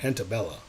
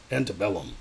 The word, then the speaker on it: Antebellum: Well, I don't like keep calling it Antebella. Antebellum. Antebellum. Yeah. I believe that's how you say it.